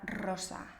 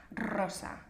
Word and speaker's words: rosa: la r por ejemplo es muy fácil entender cuando una persona es italiana escuchando Cómo pronuncia la palabra rosa rosa veis en español empezamos la palabra con esa r fuerte pero los italianos dicen